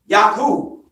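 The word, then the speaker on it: Yaqub: right but in Arabic you pronounce their name yaku are you with me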